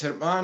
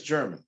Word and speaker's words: German: actually your last name in the dr it's herman here it's german okay i figured it